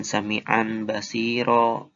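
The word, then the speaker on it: سَمِيعًا بَصِيرًا: Tanwinnya diubah jadi bunyi mim. Jadi bacanya sami'an basiro. Sami'an basiro. Gak kedengaran kan tanwinnya? Karena udah diganti sama bunyi mim.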